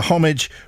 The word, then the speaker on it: homage: emails easy to tell so homage rhymes with porridge what if you like